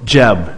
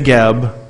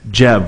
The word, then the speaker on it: Geb: people all right so jeb notice i didn't say gab or gabriel or good or whatever it's good or i don't know jeb like a j-e-b yeah it even says